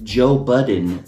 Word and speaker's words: Joe Budden: Can we all kind of get together and agree that it's Rottweiler, it's ambulance, and it's Joe Budden with no s?